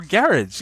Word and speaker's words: garage: Yes, you can say garage. Okay, or garage, even better. Garage. Garage is what we say with this emphasis on the latter syllable.